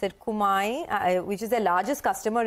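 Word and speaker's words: Kumiai: Yeah, Sonia, so no mistake in pronunciation the name of the company. It's Kumai Chemicals, one of the largest customer, and definitely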